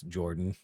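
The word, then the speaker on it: Jorphdan: My name is Jordan. I write that down. Can you spell that for me? Yeah, it's a J O R P H D A N. PH is silent.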